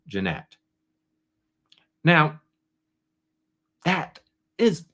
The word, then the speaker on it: Jeanette: defendants mocked attorney Brun by mispronouncing her name as Janet instead of Janette now that is not